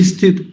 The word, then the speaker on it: स्थित: आधा बना हुआ है स्थित स्थित अभी तो मैं लंबा खींच रहा हूं थोड़ा सा स को देखिए स्थित लेकिन अभी हल्का कर दूंगा मैं इसे छोटा कर दूंगा आधा कर दूंगा स्थित ऐसे उच्चारण किया जाता है इस शैली से कोई